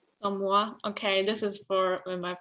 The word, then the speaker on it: chamois: I don't know how to pronounce that one. Chamois. Chamois.